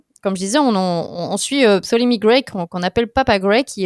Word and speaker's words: Ptolemy Gray: The Last Days of Ptolemy Gray. Oh, c'est bien prononcé.